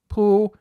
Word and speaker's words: Pū: Now if we say it flat like this poo that's the Dalamese word for a parasol going on poo in